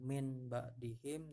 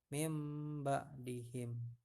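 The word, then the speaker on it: من بعدهم: mati bertemu dengan ba bacanya bukan Min ba'dihim tapi mimba'di him ya ini adalah bacaan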